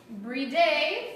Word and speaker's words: Briede: from taste Winchester history and we are at breed a family and vineyards and I pronounced it right yes awesome we're with Loretta